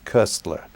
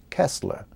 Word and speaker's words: Koestler: name well you the it depends on where you are in in Europe and among the cognos candy if you like it's cursed ler because it's a German name and but in America the standard pronunciation is Kessler and I'm not sure